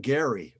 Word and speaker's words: Gerry: And Gary, who just wants to remind us that Gary, where he's from, is Gerry, but it's pronounced Gary down here.